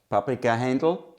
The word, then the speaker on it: Paprika Hendl: Paprika chicken, like Paprika Hendl, that's what how we pronounce it.